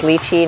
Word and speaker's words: lychee: The majority of you guys agree it's pronounced lychee, not lychee, so we're just going to roll with lychee.